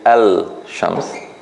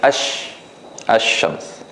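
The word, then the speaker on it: الشمس: So in this case, we don't say Al-Shams, we say Ash-Shams.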